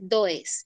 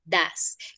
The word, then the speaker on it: does: not no se dice does listo no se dice tu ex te dice das como siesta y está sonarán como